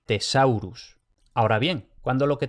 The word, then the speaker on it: thesaurus: En general se va a pronunciar T normal, también cuando aparece TH, que es infrecuente pero puede pasar. Entonces, benedictus y thesaurus.